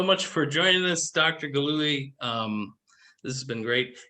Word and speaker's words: Gillooly: for joining us dr gallowy um this has been great is it gloomy am i saying it right yeah that's pretty good actually okay yeah um yeah